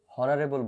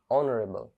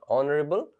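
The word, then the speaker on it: honourable: হয়, এখানে কিন্তু আমরা হনারেবল বলছি না, এখানে কিন্তু আমরা হনেস্ট বলছি না, আমরা কি বলছি? অনারেবল, honest. তাহলে এইচ এর মতো উচ্চারিত হচ্ছে না, এখানে কিসের মতো উচ্চারণ হচ্ছে?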